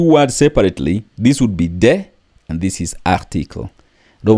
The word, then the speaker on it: des: or feminine you use de de don't pronounce the s De so it is